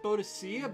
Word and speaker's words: Boudica: Because Also, I Boudicca's believe it's symbol, technically pronounced Boadicea by British people, but I think it's actually pronounced Boudica.